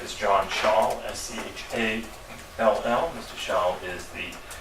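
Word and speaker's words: Schall: To my right is John Shaw, S-C-H-A-L-L.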